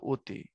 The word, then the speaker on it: অতি: হয় বিবৃত যেমন অনেক অখন অস্বাভাবিক অর্থাৎ ও তখন তাকে বলা হয় সংবৃত যেমন লেখার সময় অতি উচ্চারণ হলো অতি এবার আসো এর বেলায়